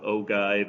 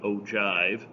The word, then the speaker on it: ogive: we call an ogive i've actually heard that pronounce both ogive and ogive this shows what we